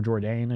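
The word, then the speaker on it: Jourdain: a win against Andre Philly by decision Charles Jordan or jordane is how how you say his name now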